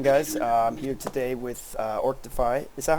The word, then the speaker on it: Orcdefy: I'm here today with Orctify. Is that how I pronounce that, by the way? Yep. Orctify?